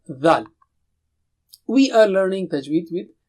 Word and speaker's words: ذ: For the three letters tha, dal and dha, the makhraj is same. That is the same spot for pronouncing them. So what is the difference? In dhal, what you do is blow with a strong sound.